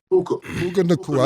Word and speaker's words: Puka Nacua: Puka Nacua.